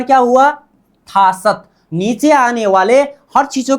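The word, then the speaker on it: 다섯: क्या होगा, यहाँ त होगा, क्या होगा, त, उच्चारण क्या हुआ, थासत।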